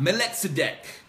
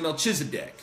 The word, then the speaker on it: Melchizedek: We got Melchizedek, or some may pronounce it Melchizedek.